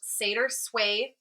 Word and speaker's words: SeidrSway: It is pronounced Seder Sway Live Agency.